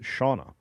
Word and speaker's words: Siana: Randall Orser, I've been watching these Brits, James and Siana, pronounced Shauna, who are uh just loving America and have now moved here, I believe.